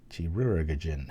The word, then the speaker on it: Chirurgeon: Chirurgeon. I know I'm supposed to say it like surgeon with a Chirurgeon. It looks like there's about 3 extra syllables in there.